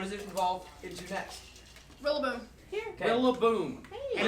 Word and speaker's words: Rillaboom: Think about it. Gorilla-boom. Nope. It's a gorilla.